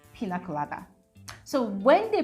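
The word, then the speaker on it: piña colada: And then the part where they had actually pronounced pina colada as pina colado.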